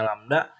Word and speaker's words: lambda: Satu lambda, ini dibacanya lambda, terdiri dari satu rapatan dan satu regangan.